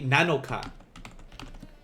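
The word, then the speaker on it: 七日: japanese shichi and nana this one would be nanoka which sounds similar to nana already so here we have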